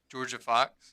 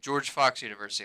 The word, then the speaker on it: George Fox University: Uh, it's GFU Georgia Fox. Yeah, Georgia Fox. Oh, George Fox University. My fault. I mispronounced it.